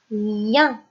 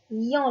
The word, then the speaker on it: lien: Lorsque la lettre I est associée au son en, qui s'écrit EN, ça se lit lien et non pas lian. Les enfants, ça se lit lien, comme le mot chien.